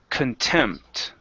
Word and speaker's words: contempt: Next one here is contempt. Okay, right here. So our stress is on the end of the word, and so the beginning, the con is kun, right?